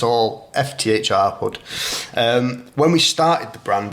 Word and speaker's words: fthrhood: So the clothing brand is called fthrhood. It's spelt FTHRHOOD.